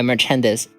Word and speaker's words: merchandise: I'll say it like dice. Merchandise. Okay. Interesting. Merchandise. It's like rolling a dice.